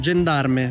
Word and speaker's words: Gendarme: Oh, we're Italian. We can speak the right pronunciation. Gendarme.